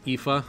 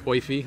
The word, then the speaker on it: Aoife: Like an, I think the correct pronunciation is Aoife, but nobody pronounces it like that. So it's Oifi. A lot of people say Oifi.